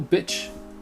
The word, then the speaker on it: bitch: Ici, vous voyez que c'est un I court, bitch. À ne pas confondre, je le mets en majuscule avec beach. Beach, c'est la plage. Et vous voyez que ça a vraiment deux façons de prononcer bitch et beach.